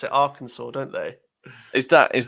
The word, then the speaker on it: Arkansas: more people comment about the way you say our kansas what what but it says arkansas it's i know but they pronounce it arkansas don't they is that is that correct it